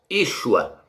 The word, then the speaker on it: Yeshua: Como é que esse nome é pronunciado, meus? Yeshua.